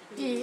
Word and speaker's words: 比: 比邻啊，这个要念作比啊，那三地坡。